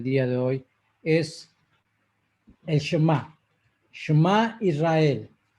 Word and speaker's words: Shemá: Bueno, la palabra Shema no es Shema, no es Shema, es Shema, con un acento en la última letra.